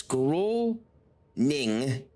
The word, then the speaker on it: Groningen: Okay, so there's an N there. So it's Groningen.